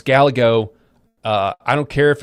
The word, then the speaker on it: Gallego: Paul, it's pronounced Gallego. I don't care. It's Gallego, okay?